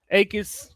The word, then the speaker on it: Jacobs: I heard the J is silent. Akis.